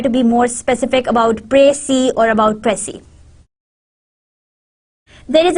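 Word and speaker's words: précis: Pray-see. Now you pray that you see that what is written in this whole conversation or in this whole paragraph.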